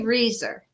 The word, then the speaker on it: Resor: maiden name okay which um so i say riser is how i say this name yes very